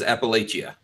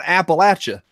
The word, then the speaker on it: Appalachia: People have different dialects wherever they are. Outside of Appalachia, they're going to say Appalachia. Totally acceptable. Mm-hmm. Here, it's like throwing an Appalachia.